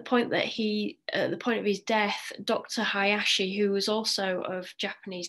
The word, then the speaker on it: Hayashi: So I want you to start learning the pronunciation of these. So it's Dr. Usui, Dr. Hayashi, and Madame Takata.